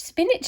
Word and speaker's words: spinach: Spinach is a weird spelling too. It's spin, which is all right. And then it's atch, spinach. We say like spinach though, don't we? But it's spelt spinach.